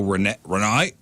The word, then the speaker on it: Renee: It's RENEE with a little thing over the one Little of the party up E's. there? Mhm. With the little Renee. Party E. Renee. That's how you say it.